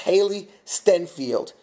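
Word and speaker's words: Hailee Steinfeld: Barry Pepper and I believe I believe it's pronounced Haley stenfield um who plays the little girl and no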